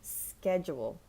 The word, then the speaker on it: schedule: oh the next one schedule I have a very busy schedule schedule it's very subtle in American English it's three very subtle syllables schedule so it's jus your